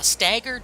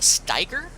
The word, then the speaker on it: Steiger: A stagger, no, but I've heard of a Steiger. It's spelled S-T-E-I-G-G-E-R, I think, or something like that. I have never heard of a stagger, though.